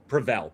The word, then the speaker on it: Provel: And you pronounced it correct, Leo. What is it? Oh, Provel. Provel.